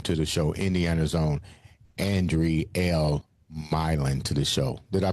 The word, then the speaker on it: Andrielle Mylin: like to welcome to the show Indiana's own Andre L. Milin to the show. Did I pronounce her name right?